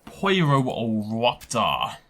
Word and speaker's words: Pyroraptor: Poiroraptor. That's how you say it, by the way, in case you're curious.